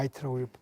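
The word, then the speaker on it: Haïti: 그 다음에 이건 IT 지진인데 그 IT는 뭐 이건 이제 원래 하이트인데 이게 불란서 형태이기 때문에 IT라고 발음합니다.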